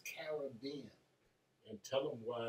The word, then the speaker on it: Caribbean: Most Americans say the word Caribbean, but it's not Caribbean. It's Caribbean.